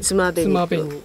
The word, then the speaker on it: 爪紅: ことで、漢字で爪に紅とか、つまべに、つまべに、うん、つまべにって読むんです